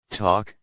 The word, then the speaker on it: talk: L is silent in calm, talk, half.